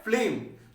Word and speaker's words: phlegm: Next word देखिए हमारे पास क्या है, वर्ड है फ्लेम। तो फ्लेम जो वर्ड है, PHLEGM, ध्यान रखिए, फ्लेम इसको पढ़ेंगे, क्या मतलब इसका, बलगम।